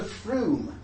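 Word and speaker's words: Frome: they were said to froom froom it's not from-- it's called FRU misspelled like that and that's in Somerset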